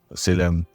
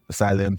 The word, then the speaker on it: Salem: So at what point did you switch from Salem to Salem? I think I found out that was the correct pronunciation.